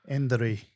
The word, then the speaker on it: Indri: How do you pronounce it? Indri.